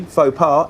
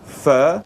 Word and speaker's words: pho: Vietnamese dish which actually fa par it should be called fur correct it pronounced fur like how is Jamie